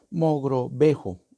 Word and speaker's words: Mogrovejo: Mogrovejo, Mogrovejo es, bueno, Santo Toribio, ¿se ve?